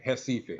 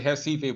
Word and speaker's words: Recife: You know how the R's are pronounced with an H in Portuguese. You know what I'm saying? So yeah, Recife. I say Recife, but it's spelled Recife.